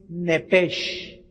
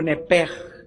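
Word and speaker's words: נפש: Es nepes o nepej, como se pronuncia. Se escribe nepesh.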